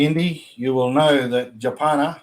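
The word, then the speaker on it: Djapana: And if you're a fan of Yothi Indi, you will know that Japana or Javana, as I call it, as Javana, is sunset dreaming.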